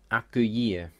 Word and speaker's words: accueillir: But in the second word, U and E is a combination, pronounced E, so I-L-L is just a Y sound.